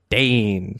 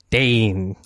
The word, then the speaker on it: Dane: a flow to it is just Dane like it's it's not quite two syllables but it's not quite one syllable it's this weird like Dane like yeah like yours